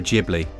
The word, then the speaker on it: Ghibli: Are you a Ghibli or a Ghibli? Well, from what I've heard, it's kind of pronounced somewhere in between.